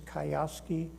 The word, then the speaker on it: Kiyosaki: That's Robert, I don't know how to pronounce his name. It's Kiyosaki.